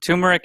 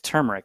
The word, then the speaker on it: turmeric: Yeah, but it's T-U-M. You're doing like tur. Like turd. Yeah, that's turd. what it is. Turmeric is wrong. It's turmeric.